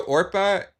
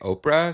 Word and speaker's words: Orpah: No, Orpah is a biblical name. Yes. And people just couldn't say it right, and they kept just saying Oprah. So then she just became Oprah, and it works so well.